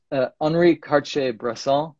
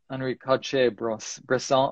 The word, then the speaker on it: Henri Cartier-Bresson: So if anyone wants to check out Henri Cartier-Bresson, or in English, you could say Henri Cartier-Bresson.